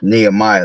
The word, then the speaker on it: Nehemiah: Nehemiah.